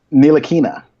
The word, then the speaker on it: Ntilikina: Ntilikina.